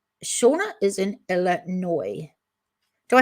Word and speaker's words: Illinois: Shauna is in Illinois. Do I say Illinois or Illinois? I think I don't say the S. I think that S is silent.